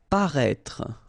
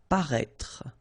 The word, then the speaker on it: paraître: Paraître, okay, so if you remember from the first video, then we had as well this accent circonflexe on the top of I here, but then you don't pronounce it, okay, so you should write it, definitely, because, you know, that's the